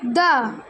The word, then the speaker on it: the: কিন্তু অলওয়েজ কনসোনেন্টের আগে কিন্তু দ উচ্চারণ হবে, আর ভাওয়েলের আগে দি উচ্চারণ হবে, তাই তো?